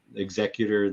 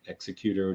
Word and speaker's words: Executor: They're, the big executor, the executor, depending on how you say it.